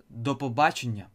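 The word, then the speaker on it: до побачення: bye is the Papageno Papagena notice he pronounced this two words as one the Papagena and also you can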